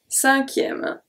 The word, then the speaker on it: cinquième: Pour la cinquième. Pour. Pronounce everything. La. We good. Cinquième. Cinquième. So here, the U after Q is silent. The E at the end is silent as well.